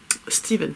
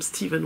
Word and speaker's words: Stephen: Stephen King d'ailleurs, c'est comme Stephen West, ça s'écrit Stephen mais ça se dit Stephen.